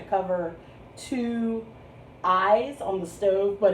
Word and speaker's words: Staub: the staub pan made in france it's spelled s-t-a-u-b and pronounced staub no stove i'm sorry it's pronounced stove you want to say style because that's what you think you see but it's actually pronounced stobe so this is the stove grill pan it's